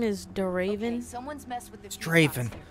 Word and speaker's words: Draven: his last name is still raven it's eric draven is it pronounced the message it's pronounced draven draven okay it's spelled d raven yeah that's